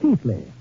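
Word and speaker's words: Keighley: ancestral town of Chile pronounced in England Keithley although how they made Keithley out of k-e-i-g-h-l-e-y I'll never know but that is my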